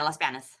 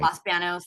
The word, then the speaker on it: Los Banos: Los Los BOS yeah Las Banis oh Las Banis I don't say it right sorry Las Banos Las Banos you can say I'm like Bano you know what I mean Los BOS the bathroom you know yes so anyway